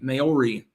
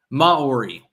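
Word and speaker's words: Māori: By the way, it's pronounced like Maori. Maori. I always hear Maori.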